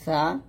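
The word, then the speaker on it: ثاء: 4 নম্বর হচ্ছে সা এবং সিন। সা এবং সিন উচ্চারণ করার নিয়ম হচ্ছে, সা হবে জিহ্বার আগা উপরে দাঁতের আগার সঙ্গে লাগিয়ে, সা পাতলা হবে।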